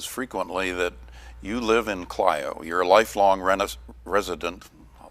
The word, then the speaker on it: Clio: travels, that quite often people would say, "Oh, you're from Clio." And I says, "No, we're from Clio." Or they would apologize for pronouncing it incorrectly. But I come back with a comment, "Well, do you know how to pronounce Ohio?" And it's Ohio, not Ohio.